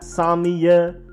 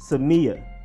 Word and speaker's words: Samia: you have offensive guard drew Samia so not Samia or Sammy ax it is emphasis on the meet drew Samia then there's defensive end Charles or Menna who